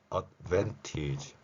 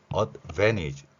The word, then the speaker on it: advantage: 자, 그러면 결론은 혼민정음을 활용한 글자 표기를 하면 advantage 그리고 advantage 이렇게 발음한다는 겁니다.